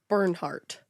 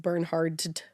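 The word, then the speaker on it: Bernhardt: Bernie has a hard name to say because his real name is Burnhart. Burnhart. I always want to pronounce the D like Burnhard.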